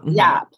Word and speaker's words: Yhap: Kimberly and Yap. YHAP. Okay. The H is silent.